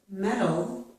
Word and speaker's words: metal: Most Americans pronounce metal and metal in the same way. We do that because we change the letter T, or the sound T, to a quick D sound.